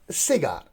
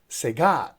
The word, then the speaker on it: cigar: it's not pronounced at cigar it is pronounced as sega so here the stress goes on the second syllable we have two syllables